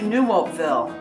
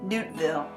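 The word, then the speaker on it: Nieuwoudtville: trip from vlogabond to new Oakville or as the locals say newton bill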